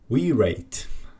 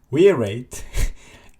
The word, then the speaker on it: Wireit: this package name and I think it's not wear it it's wire it basically